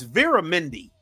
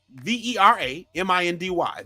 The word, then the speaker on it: Vera Mindy: culture Mindy King's first name ain't Mindy it's Vera Mindy v e r a m i n d y Vera Mindy her last name isn't Kaling it's